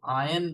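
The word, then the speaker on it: iron: तो स्पेलिंग तो होती है आई आर ओ एन। लेकिन उसको आयरन बोलेंगे। यहां पर आयन मतलब कपड़े प्रेस करो।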